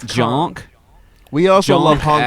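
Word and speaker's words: Jahnke: He Jay Conk. Chukon. Do you got JKOHNKE? If it's wrong, correct us. Continue. J is silent. It's Jonk.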